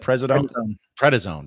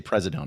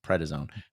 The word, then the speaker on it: prednisone: Prednisone. Thank you. I kept wanting to say Presidone. No, it's Prednisone.